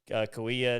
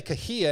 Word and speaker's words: Kauai: See, I used to say Kahia, and I swear Kiefer said Kahia. No, maybe not. But a lot of people, even other people I've talked to, they say Kahia, but it's it is Kauai.